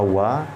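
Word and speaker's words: は: Sedangkan huruf wa dalam pola kalimat ini adalah sebagai partikel penanda topik atau dibaca wa, itu untuk menegaskan bahwa kata yang berada di depan partikel wa adalah subjek atau topik yang sedang dibicarakan.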